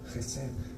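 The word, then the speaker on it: hesed: La palabra es jes se puede escribir como h e s e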